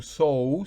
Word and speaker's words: sow: Recuerden que la O en inglés es so, es O.